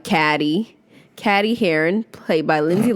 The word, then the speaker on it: Cady: Teenage Katie Heron, and they often pronounce her name wrong because it's spelled Cady. Caddy.